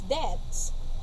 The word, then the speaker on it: debts: he never paid his debts, I wouldn't have lent him money. Debts. So this is how this is read as debts. Debts. We do not pronounce, we do not pronounce the B.